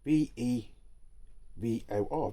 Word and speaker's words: Vevor: Um yeah, any comments you've got on one of these, uh I think it's pronounced Vevor. V E V O R, Vevor.